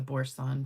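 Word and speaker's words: Boursin: So, I don't know if you guys know what the borson cheese is. I guess that's how you say it's B O U R S I N.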